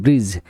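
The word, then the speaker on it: bridge: ব্রিজ মানে সেতু। জাজ মানে বিচারক, জাজ, এখানে সব আছে ডি সাইলেন্ট লেটার।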